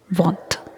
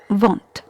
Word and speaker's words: want: Here letter A is pronounced as O. Another example, want. What, want.